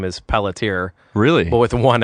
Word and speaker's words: Pelletier: It's Pelletier for English, but it's like Pelletier.